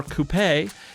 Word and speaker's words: coupé: Whether you pronounce it coupe or coupé, you have to admit